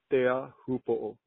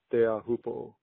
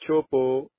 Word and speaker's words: Teahupo'o: The proper way to say it is Teahupo'o. Teahupo'o. Not chopo, not whatever else, like, you know, a lot of people might say.